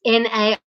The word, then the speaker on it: Nellie: In case you're wondering how to pronounce my name, Sister Tracy, it's Nellie, but it's pronounced Naile.